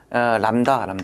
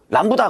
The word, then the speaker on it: 람다: 그 다음에 또 등장하는 게 람다, 이게 람다. 그 람다라고 읽어요. 이거 들립 아닙니다. 들립이라고 하더라고. 람다고 람다라고 있고요. 그 다음에 여기서 B 있죠. B는 묵음이야, 묵음. 람부다 그러더라고. 무식한. 람부다가 아니라 람다라고 읽어요.